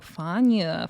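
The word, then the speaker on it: Fania: Even Natalie was like, "Fana, FA, please get her name right." You still didn't say it right either. It's FA. The I is silent like F A N A.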